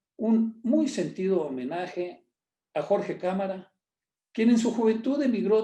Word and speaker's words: Jorge Cámara: My name is Jorge Cámara, pronounced Camara in the United States.